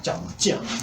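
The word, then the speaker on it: 江: 양자강 얘기가 중국의 이제 강임은 짱이라고 발음하죠. 제이 발음합니다. 짱 이렇게 발음하는데요.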